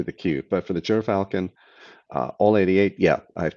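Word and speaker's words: Gyrfalcon: Jeff L asked, did I ever review or plan to look at the Gear Falcon All 80, excuse me, Ger, Ger Falcon, Ger Falcon.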